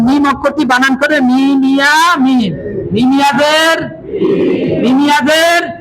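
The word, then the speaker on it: ميم: এখন মিম অক্ষরটি বানান করে মিমিয়া মিম, মিমিয়াদের, মিমিয়াদের। জেরের বাম পাশে যজমালা ইয়ে আছে, তাহলে টানতে হবে মিম।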